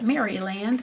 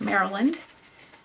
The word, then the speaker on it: Maryland: A lot of foreigners call it Maryland, but it's actually pronounced Maryland.